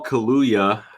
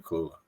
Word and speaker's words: Kua: Um, so Kuya, probably butchered your name, pal. Sorry. Um, huh? You kind of You didn't really say it right, but it's Kua.